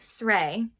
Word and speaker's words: Sray: And then Sray, which I looked up is kind of pronounced like stray, but there's no T in it.